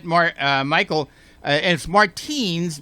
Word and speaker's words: Martines: that correct that is absolutely correct but you pronounce it martinez because you want to be different is that